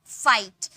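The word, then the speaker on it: fight: नहीं आ रहा था वैसे ही आई के बाद अगर जीएसटी होता है तो जी एच साइलेंट होता है सिर्फ टी का प्रोनाउंस करेंगे फाइट अब देखिए एफ का फ आई को हम लोगों ने आई में बदल दिया और जी एच का कोई साउंड नहीं आया यानी कि जी है साइलेंट है टी का ट का साउंड आया यानी कि फाइट वैसे ही लाइट राइट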